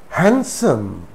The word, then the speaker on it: handsome: Handsome, handsome, it's not handsome, handsome. Sandwich, sandwich, it's not sandwich, sandwich. Wednesday, it's not Wednesday, Wednesday. So in these words also d is silent.